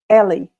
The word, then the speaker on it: Eli: Eli. I cannot say my name in English. Ellie in Spanish.